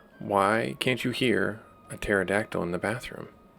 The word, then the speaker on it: pterodactyl: Why can't you hear a pterodactyl in the bathroom? Because the P is silent.